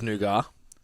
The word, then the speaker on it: nougat: It's nougat. Yeah. T is silent.